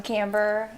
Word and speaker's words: Camber: I'm Camber. I'm the lead vocalist. I'm from Lakeland, Florida. Camber rhymes with Amber.